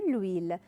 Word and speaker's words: huile: De l'huile. Pourquoi j'ai mis L apostrophe? Parce que le H est muet. Le H, ما تلفظ.